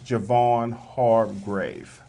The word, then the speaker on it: Javon Hargrave: Can you his pronounce name it? is Javon Hargrave.